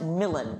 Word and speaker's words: Milan: different place where yes which is pronounced millen in this play just because of the the scansion in milan yes um yes please